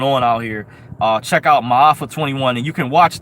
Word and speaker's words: Ma'afa: Another documentary is called Ma'afa 21. It's spelled M as in Matthew, A as in